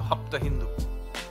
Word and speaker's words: Hapta Hindu: Sapta Sindhu in there, except they changed the pronunciation to Hapta Hindu. And that is the word where Hindu comes. It is a mispronunciation of the word Sindhu. And Hapta Hindu then becomes the word